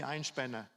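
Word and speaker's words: Einspänner: They called it Erwin's coffee because they couldn't pronounce the name. I think it's hard for Korean to say Einspanner, So it's Einspanning, anyway, I don't want to explain what it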